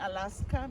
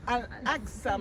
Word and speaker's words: Al-Aqsa: I used to call it Alaska because I don't pronounce it. But it is Al-Aqsa Mosque, okay?